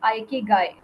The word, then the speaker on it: Ikigai: वाकई इसको किस तरह से सही तरीके से प्रोनाउंस करना है, तो दैट इज़ आइकिगाई, राइट।